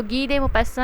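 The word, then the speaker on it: Guy de Maupassant: तो गी दे मोपस्सन इसकी जो है वो प्रोनाउंसिएशन है.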